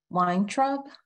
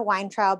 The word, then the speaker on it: Weintraub: Our next speaker is Weintraub. Sorry if I misspelled your name, mispronounced it.